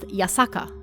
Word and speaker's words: Yasaka: south we can find a shrine that uses the same characters for hashaku this shrine is pronounced yasaka however and shikoku is also